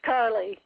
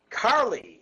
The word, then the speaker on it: Carleigh: It's Carleigh. Carleigh, like Carly Simon.